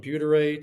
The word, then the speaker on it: butyrate: My functional doctor had me take butyrate or how do you say it?